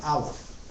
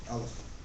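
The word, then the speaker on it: א: So the first Hebrew letter is the Hebrew letter Aleph. Now, for the purposes of the video, the way they teach is that the letter is silent, and the transliteration is like a little, like apostrophe.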